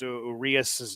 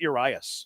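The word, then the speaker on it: Urías: Pronounced Urias's name right. He's got a weird pronounce. It's not Urias, it's Urias.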